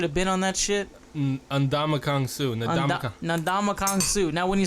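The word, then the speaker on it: Ndamukong Suh: Ndamakong Su.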